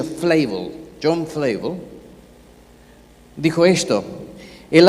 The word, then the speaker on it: Flavel: John Flavel, en inglés se pronuncia Flavel, John Flavel, dijo esto: el alma es la más asombrosa ejemplar de artesanía divina.